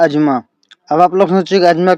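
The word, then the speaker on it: asthma: देखो वैसे इसको हम लोग अस्थमा बोलते हैं, कॉमन, ठीक है, लेकिन जो रियल प्रोनाउंसिएशन है इसका आप लोग गूगल भी कर सकते हो, डेट इज अजमा, लेकिन हम इसको बोल देते हैं अस्थमा।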